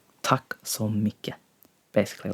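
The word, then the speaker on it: takk: Tack.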